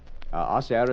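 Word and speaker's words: hacer: Acair is H A C E R but the H is not pronounced.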